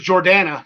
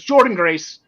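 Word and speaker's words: Jordynne Grace: I thought it was Jordana, the way it was spelled, but it's Jordan Grace.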